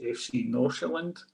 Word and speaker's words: Nordsjælland: I think it's pronounced FC Nordsjælland. It's not written that way, but I think it's pronounced that way.